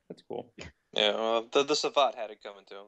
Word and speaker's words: Savate: What is the proper pronunciation? Yeah, I think that's right, Savat. That's what we say in the office. Okay. Why are you questioning me? No, that's not how I said it. I thought it was like Savate or something. I don't know. Something. No, Savat. Mispronouncing it.